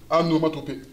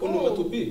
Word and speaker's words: onomatopée: Anomatopée. Anomatopée. A. C'est O. C'est onomatopée. Ouais. J'ai dit A? Ouais. Oh, ma bad. C'est O. Onomatopée.